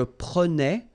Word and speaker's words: prenais: So same thing here, final S not pronounced.